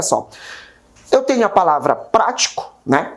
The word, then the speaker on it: prático: Eu tenho a palavra prático, né? Percebe que prático, o pra, ele é pronunciado com mais força.